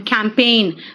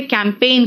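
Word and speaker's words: campaign: कार्यभार सौंपना and sign and कैंपेन देखो ध्यान से यहां पे कैंपेन कहा है मैंने यानी पे ए पी ए आई जी एन कहा है कैंपेन अब यहां तक आपको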